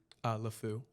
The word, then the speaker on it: LeFou: nasal, like, yeah, like, I don't want to do it, but like, it's Wait, how do you pronounce his name? LeFou.